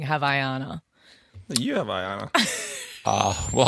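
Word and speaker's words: Havaianas: You say it like Havaiana, not the way you guys saying.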